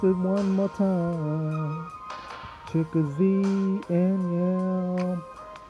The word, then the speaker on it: Chicozie Anyiam: Trick or Z and Young. Z in the middle. Trick or Z. Z at the end.